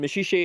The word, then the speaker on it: Maxixe: a false friend, is a boy named Meshiche, which is spelled Maxixe. And Meshiche is in fact a mineral.